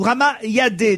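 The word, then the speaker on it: Rama Yade: Vous connaissez évidemment Ramayad ou Ramayadé, d'ailleurs. Hein. Certains prononcent Yadé, d'autres Yad.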